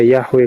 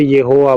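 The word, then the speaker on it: Yahweh: sudah sekarang udah percaya yahwe katanya apaan lu bekal oh sudah percaya di mana hasil tipe karbitan enggak jelas loh itu siapa maksudnya dia sudah percaya yh yang bacanya itu Yehua bukan Yahwe Bang eh dua ini ee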